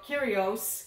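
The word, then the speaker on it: Kyrgios: and Nick here no kurios match I have to keep reminding myself the G is silent hi here Arvest how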